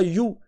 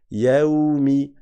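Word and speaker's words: يومِ: Tu dis bien al tout comme on avait dit maliki et pas maliki malikumi non c'est pas you c'est yaumi ben là c'est pareilim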